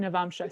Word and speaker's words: Navamsa: And Navamsa, so you can also get, that's how you pronounce it, Navamsa.